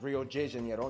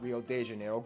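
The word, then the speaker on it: Rio de Janeiro: that's right it's pronounced Rio Jano not Rio Deano get it right we're not in Mexico this is Portuguese not Spanish this was done in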